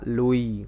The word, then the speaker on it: Louis: Tulisannya Louis tapi bacanya Louis karena orang Prancis ya.